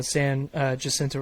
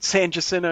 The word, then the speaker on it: San Jacinto: uh Jacinto River yeah am I pronouncing it correctly yeah yeah I mean locals call it the uh Sand Jack but yeah the Sand Jack okay yeah yeah this is just easier than San Jacinto you know just San